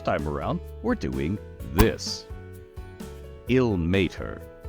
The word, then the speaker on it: Ilmater: Illmater. 3 syllables. Illmater. So if we were slowing down and exaggerating it, it's Illmater. Now, that deity, here's a lot of pronunciations. Illmater. Lots of people say Illmater. And that's actually pretty close. But he would prefer it if you stood on the may a little bit more, so Illmater.